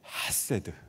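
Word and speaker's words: חֶסֶד: 발음이 조금 센데요, 헤세드 이렇게 발음을 해야 됩니다.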